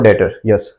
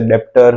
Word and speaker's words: debtor: रहेंगे क्रेडिटर और डॉटर्स इसको डिटर बोलते हैं यहां पर 20 साइलेंट बहुत सारे लोग इसे बेस प्रोनाउंस करते हैं कुछ लोग इसे डेप्सर कुछ लोग डेबिटर बोलते हैं हकीकत में से बोलते हैं डेटर और ये है क्रेडिट